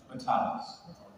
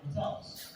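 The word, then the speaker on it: Matalas: Metalis. No, he's a great Metalis. He's a great man. We have, even though he's not here with us this weekend, He's busy. we're very grateful to Terry Metalis.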